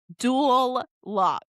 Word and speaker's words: Duloc: Also, sorry, let me let me pronounce that for everybody. Dualoc. Dualoc, like two locks, but Duloc.